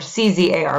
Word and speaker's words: czar: be spelled t-s-a-r or c-z-a-r but it's pronounced czar like with a z it came from the